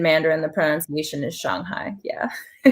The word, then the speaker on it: Shanghai: hear how she's saying it so the correct pronunciation is Shanghai in Mandarin yes but I mean in in